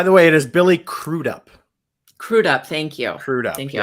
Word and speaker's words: Billy Crudup: really happened by the way it is billy crudup crudup thank you thank you i apologize for the mispronounced it's funny because i i only know